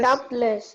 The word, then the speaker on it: doubtless: Doubtless. Doubt, Doubtless. doubtless. In doubt, guys, the B is silent, so it's doubtless, doubtless.